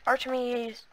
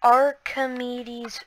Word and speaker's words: Archimedes: This is the Archimedes. That is not how you say it. This is the Archimedes ships mod.